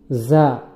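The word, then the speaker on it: ز: যা, এটা ঝাটা বলার সময় জিহ্বার আগা নিচের দাঁতের, সামনের নিচের দাঁতের গোড়ার সঙ্গে লাগিয়ে যা উচ্চারিত হয়।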